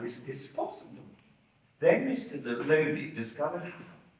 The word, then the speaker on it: Looney: It's pronounced Looney.